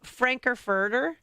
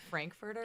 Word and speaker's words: Frankfurter: have Frankerfurter. Did I break it? She butchered Pretty that. close, pretty close. It's pronounced Frankfurter in my family.